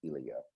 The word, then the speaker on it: Ilya: for a long time i was thinking it was eli but it's ilia and i took a